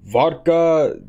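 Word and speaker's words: wódka: we are having vodka I know it's spelled with a W but in Polish that's actually a V so vodka this has a alcohol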